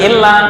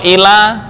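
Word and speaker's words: إلى: Ila Ila dari sini Ila bukan illa beda artinya loh illa kecuali tapi kalau Ila ke a Ila Ila Nah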